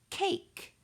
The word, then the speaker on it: cake: Then I have the word cake. K-A-K. Cake. I hear the long A saying A, and I see a silent E on the end that is not pronounced.